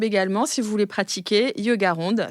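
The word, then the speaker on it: Yogaronde: si vous voulez pratiquer yoga ronde c'est facile comme ça se prononce tout attaché merci beaucoup à bientôt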